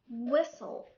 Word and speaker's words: whistle: sound second rule when we have a word ends with s t l e t here is silent had four letters s t l e and a t is silent an example castle whistle hustle third rule when we